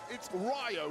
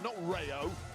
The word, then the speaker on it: Rayo: Say it properly, Michael Cole. Very disrespectful. You're like Gunther, you are. It's Rayo, not Rayo.